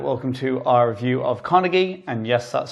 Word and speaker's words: Carnegie: tally hello and welcome to our review of Carnegie and yes that's how I'm going to pronounce it I've heard it pronounced four different